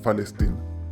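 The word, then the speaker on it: فلسطين: En árabe la letra P no existe, entonces la reemplazan por la F y pronuncian Falestín.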